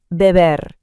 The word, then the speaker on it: beber: In Spanish, the B and V sounds are often pronounced very similarly, almost like a soft B. Let's try it out. To drink, beber.